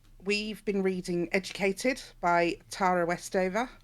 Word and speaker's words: Tara Westover: been reading educated by tara westover or tara westover as she pronounces it which you can